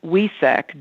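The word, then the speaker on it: Wesak: super moon of 2021 and it's known as wesec w-e-s-a-k in some cultures like in vietnam they spell it with a vias and valentine so we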